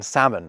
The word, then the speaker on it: salmon: just for relieving us of the confusion around that awful L in salmon. I mean, I know lots of non-native English speakers who've reached a really, really high level with the language, but still pronounce that L.